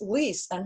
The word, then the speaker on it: Lise: my name because my name looks like it's pronounced lis and her name is pronounced lis my name is